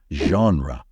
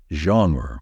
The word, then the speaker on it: genre: usual way in English the correct way to say it is genre don't say genre or Jer because that's incorrect genre is the only right way to pronounce it I've decided to do